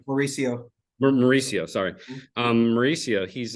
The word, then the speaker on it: Mauricio: they have highly talented talented players even um Marciano right that's how you say it did I get that right Mauricio Mauricio sorry um Mauricio he's um you know